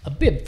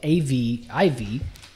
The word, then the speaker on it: Aviv: But where do we get that word Abib from? So the Hebrew, and it's spelt A-V-I-V.